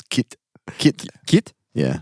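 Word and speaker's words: кит: It says kit. Kit. Kit? Yeah. It's kit. K backwards NT, but pronounced kit.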